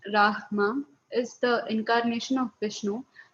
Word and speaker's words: Rama: Rama, pronounced Rahma, is the incarnation of Vishnu as the prince of responsibility.